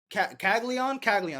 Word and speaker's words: Caglianone: So Jack Caglianone, Caglianone, that's how you say it.